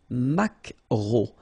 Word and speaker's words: maquereau: So technically this K, just pronounce it K, mac, maquereau, maquereau.